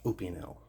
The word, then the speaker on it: Opinel: made knives these are from a brand called opinel i've watched some of the company's videos and the people that run the company pronounce it opinel so we'll go with open now you'll probably